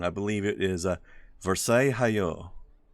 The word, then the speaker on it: Versailles: believe it is a Versailles you don't tend to pronounce these L's here for some reason they